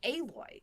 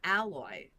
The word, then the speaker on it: Aloy: And then he brought up he's like this character is it's how is Aloy? It's not alloy.